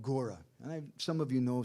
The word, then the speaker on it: Gora: Now, the spelling, G-O-R-A, is bona fide. It's used sometimes by Bhaktivinoda Thakur. You would give a long A at the end.